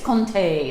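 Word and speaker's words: Comté: um next one is going to be the compte so the saint stephen triple cream i don't know we kind of said what we wanted to say about that looks like compt on your c-o-m-t-e but it's conte is how that's pronounced so there's a couple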